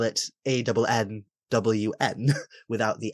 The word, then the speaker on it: Annwn: And I've done that since I was about 16, and I got told by Christopher Hughes that it's Annwfn, not Annwn. And before that, I always pronounced it Annwn, because that's the way it's spelt nowadays.